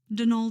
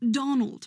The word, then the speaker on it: Donal: met at the door Donal Delany not Donald mind you there's no D at the end so it's pronounced denal